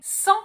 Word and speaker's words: Centre: For the second part of the word, it's written R-E, not E-R. You can't pronounce it you have to pronounce it tr. It's exactly like when you're gargling. And the E is not here to be pronounced. The E is only here to tell you to pronounce the R.